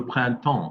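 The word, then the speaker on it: printemps: exactly spring and spring in french is le pranton can everybody say that very good and good pronunciation i heard a number of you say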